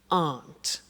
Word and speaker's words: aren't: aren't cheap so so the difficult here is the pronunciation of an not which is Aunt okay Aunt good so